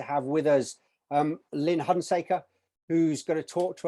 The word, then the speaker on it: Hunsaker: I hope I've pronounced your surname, your last name correctly. Yes, Lynn Hunaker.